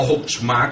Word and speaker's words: Chokmah: Da'at surge de lo que es la conjunción cabalística de la céfira de Chokmah, que es la sabiduría, o Hochmah, como se le pronuncia, con la unión de Binah, que es el entendimiento y la inteligencia.